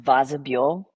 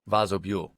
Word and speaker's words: Vozobule: It's pronounced Vozobule. Vozobule. Vozobule. It's Czech.